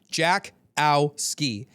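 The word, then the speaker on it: Jackowski: It's phonetic. Jack ski.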